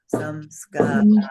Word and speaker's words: samskara: The dot under the M means it's not a plain M, it's an anusvara M. And that means 4 chances out of 5, you will change it to a different letter when you write it.